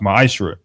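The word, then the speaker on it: מעשר: Means 10th in the Hebrew, and it's pronounced ma'ashra.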